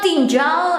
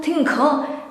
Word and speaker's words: tinggal: Tinggal. Slowly. Tinggal. Ga. It is like ga, but you say gal. Tinggal. Okay. So it's not tinggal, it's not tinggal. Tinggal.